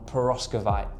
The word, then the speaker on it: perovskite: REA have made a decision to pause development on the traditional silicon wafer technology and focus heavily on perovskite, that's how you say it, which they believe is the next big breakthrough in solar, and they might be right.